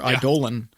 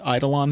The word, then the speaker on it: Eidolon: alongside this Eidolon or idolan effect which I thought it was pronounced idle on but I saw it is apparently pronounced I Dolan I will never pronounce